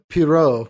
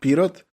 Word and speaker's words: Pirot: and then to bulgaria which the guy calls pirro yes yeah kelly wallace calls it like but later some yugoslavs actually pronounce it pirot um and it's interesting